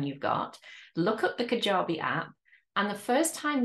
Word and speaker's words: Kajabi: So Kajabi, as it's pronounced, is that they are the people that I build my website with.